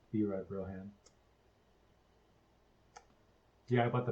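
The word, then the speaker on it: Bri: I did start a Sims character named B-Ry Broham, and it's spelled B-R-I, and people will mispronounce it as Bry, but he likes to explain that it's pronounced B-Ry.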